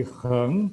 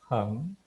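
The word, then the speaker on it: 横: Supaya dari benar-benar suara kamu itu kedengarannya adalah heng, bukan heng juga, tapi heng.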